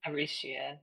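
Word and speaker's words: Aretia: Arisha is what I call it. That Yeah. TI sound is It's usually a the she.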